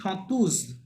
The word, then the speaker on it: chanteuse: chanter, হ্যাঁ, un chanson, Shaw, chanteur, শত, ভাইয়া শেষেরটা পারছি না, chanteuse, উন শতুজ, শতুজ, chanteuse, right. And single S আছে উন মানে জ শতুজ, সাউন্ড আসবে, তাই না, জ, জি জি, শতুজ, জ, হ্যাঁ।